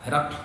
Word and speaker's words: ہرقل: کا جو بادشاہ ہے، ہرقل، اس کو ہرقل پڑھا جائے گا، بہت سے لوگ جو ہے دوسرے انداز سے پڑھتے ہیں، لیکن اس کا تلفظ جو ہے ہرقل، یہ صحیح اس کا نام ہے، اور اس کا